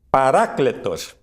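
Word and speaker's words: παράκλητος: católicos le llaman paraclito en griego la pronunciación correcta es paracletos en todo caso esta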